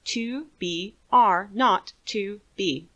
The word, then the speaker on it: 2BR02B: The 0 in the telephone number he pronounced naught. The number was 2br02b.